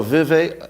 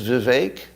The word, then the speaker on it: Vivek: so I like that oh Vive I'm pronouncing his name wrong really is Vivek how did you let